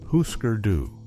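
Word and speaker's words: Hüsker Dü: The band is Husker Doo, pronounced Husker Doo.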